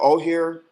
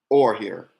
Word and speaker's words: Oher: it sounded like ownership or here thank you brother or here oh that's the last name or okay thank you